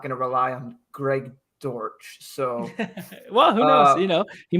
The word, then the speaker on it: Dortch: How do you pronounce his last name? Dortch. Dortch.